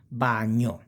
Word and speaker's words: bagno: Si pronuncia come onion, more or less, but it's more gn, bagno.